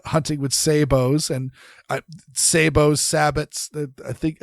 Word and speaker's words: sabot: Prince French pronunciation the the proper French pronunciation is Sabo uh hence sabotage but yes if you want to americanize it because two world wars sabotage so sabbot uh yeah you can